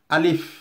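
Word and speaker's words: ألف: সো আলিফ যখন বলবো তখন আলিফ বাতাসটা বেরিয়ে আসবে। আলিফ, দেখুন আমার ঠোঁটের দিকে আলিফ, আলিফ। আমরা কিন্তু অনেকে আলিফ বলে ফেলি, এটি ভুল। আলিফ এইভাবে।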